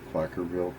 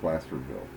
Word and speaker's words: Placerville: This is Placerville, Colorado, or Placerville, Colorado, depending on how you say it, tomato, tomato.